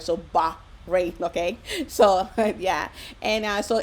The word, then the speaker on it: Bahrain: And the name, how to pronounce Bahrain, Bahrain. So that's what I have learned also for myself, is Bahrain. You have to make sure the H is heard. So Bahrain, okay?